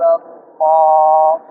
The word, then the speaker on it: الله: ஜபருக்கு சார்ந்து قال الله قال الله إلى الله إلى الله أراد الله أراد الله. அல்லாஹ் என்ற நாமக்கு முன் ஜபர் இருக்கு. எனவே அல்லாஹ் என்ற லாமை மொத்தமாக உச்சரிக்கிறது.